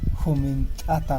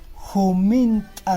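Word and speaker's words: humint'a: Kunan p'unchay miriki llaqtamasi Jumint'ata Roazo. En algunos sitios lo conocen con el nombre de humitas. Llaqtaypiqa runa simipiqa rimayku khaynachata Jumint'a nispa.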